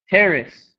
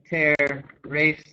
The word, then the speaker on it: terrace: three it would be race and terrace terrace i don't say terror race i say tear you can hear hear how it's the second syllable becomes reduced so running through these others